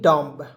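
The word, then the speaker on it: dumb: है देना य देखिए डी यू एम बी डम डी यू ए ए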